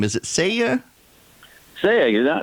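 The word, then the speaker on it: Sayegh: Saya, not too bad, Eric. Listen, I've been practicing all morning thanks to YouTube. There you go. So listen, it's phonetically pronounced. Say egg. Say the word egg.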